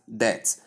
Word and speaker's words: debt: Tell the person with all politeness that it is not pronounced as debt, that the B is what? Silent, and the word is pronounced simply as debt.